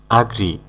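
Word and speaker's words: agree: অর্থাৎ উপদেশ দেওয়া এডভাইস আগ্রি আগ্রি মানে হলো রাজি হওয়া এটাকে আবার অনেকেই এগ্রি বলে উচ্চারণ করে সঠিক উচ্চারণ হবে আগ্রি মানে রাজি হওয়া আনয়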